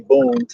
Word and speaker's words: Boonton: I just don't know how to say Boonton. That should sound retarded. And it's always been Booton. But I mean, again, just because I say Booton don't mean it's the proper pronunciation.